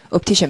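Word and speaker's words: optician: 그리고 옵티션이라고 하는 게 안경 파시는 분들을 발음하시면 옵티션, 매지션 하듯이 이렇게 얘기해요.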